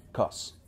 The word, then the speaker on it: cuz: El primero es C-U-Z, pronunciado cos. Como te estarás ahora dando cuenta, cos es ya de por sí el diminutivo de la palabra because.